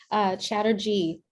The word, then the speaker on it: Chatterjee: Chatterjee.